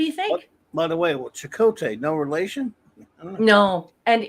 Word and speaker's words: Chakotay: They pronounce it Chakotay, but it's Cote like French. So I believe it should actually have an accent above the O right. or the E, because it's TE, not TAY.